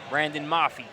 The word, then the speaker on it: Brandon Mafi: that's Brandon ma Brandon mafy just trying to make sure I had that pronunciation right Brandon Mafi yeah so the official